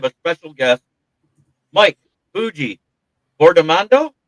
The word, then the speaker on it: Fiordimondo: Did I say it right? Or close? Close enough. You say it for me then. You're right, Fiordimondo. You're okay. much on point. I missed the fjord. I said Fiordimondo.